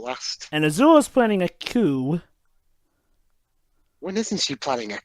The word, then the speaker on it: coup: Basically, Tia, when we were saying a coup, we're talking about the coup. Basically, coup d'etat. That's because you pronounce it with a P at the end. Mm-hmm. Well, yeah, the P is actually silent in coup.